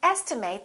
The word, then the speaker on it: estimate: at the next one this can be a verb in that case it's pronounced as estimate i would like to estimate the cost of this or estimate if it's a noun please give me an estimate of the cost let's look at this